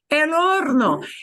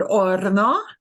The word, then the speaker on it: horno: El horno. And la H no se pronuncia. We don't pronounce that H in the word horno.